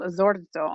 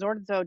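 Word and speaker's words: Zorzo: here is george um he was born giorgio which in um the dialect of the veneto is pronounced with z so he was called zordo and he was always referred to as zordzo da castel franco not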